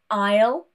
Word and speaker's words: aisle: Now, these are completely random words that have a silent S, no particular rule. Any formation of these words here will also have the silent S. For example, aisle, island, and debris.